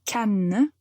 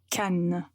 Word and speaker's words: Cannes: de la France et Cannes est une ville qui se trouve au sud de la France. Le festival du film se passe à Cannes. Donc il faut bien prononcer la lettre N et comme ça, vous ne vous trompez pas.